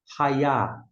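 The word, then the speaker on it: הָיָה: Temos o Yud, que é o Y aqui, que é próximo, equivalente ao nosso I em português. Aqui embaixo, A. Ra e A. E o Re é mudo. Desta forma, Raiá.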